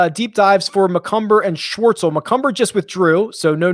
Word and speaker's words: Schwartzel: And there is another question right below about Charles is how he pronounces it, Schwartzel, which is hard to say, laying the blueprint.